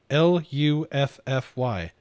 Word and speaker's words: Luffy: yeah I was like really you can't pronounce Luffy it's at least in the in the English spelling of it l-u-f-f-y Luffy how hard is that I mean in all